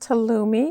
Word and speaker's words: halloumi: Have you ever tried halloumi cheese? No, tell me again what it is. It's pronounced halloumi, and it's a goat Goat.